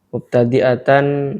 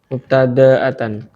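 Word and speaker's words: مبتدأة: jika ada siapa mar'a, mubtadi'atan ialah mubtadi'atan. mubtadi'atan. Jadi kabarnya tasrif kana. Enggak anunya bacanya itu. Mubtada'atan. Apa bedanya?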